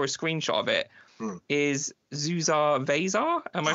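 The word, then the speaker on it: Zusar Vasar: since I saw a screenshot of it is zuar vasar am I pronouncing that correctly yes you are yes probably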